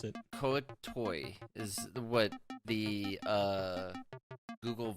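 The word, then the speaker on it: Kuo-toa: that absolutely 100% Forgotten Realms link says it's pronounced kuo Tua I'm not too f off I think my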